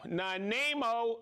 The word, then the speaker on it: Nanaimo: We have Chris from okay, I used to know how to pronounce this. It's Nanaimo, Vancouver Island.